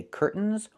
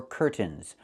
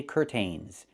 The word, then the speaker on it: curtains: This word has two pronunciations. I can say curtains or curtains, but don't say curtains. It's curtains with a real T, curtains. Or I can use a stop T and say curt, stop the air, put the tongue up, curtains, and go directly to the N, curtains. So curtains or curtains, both pronunciations are correct.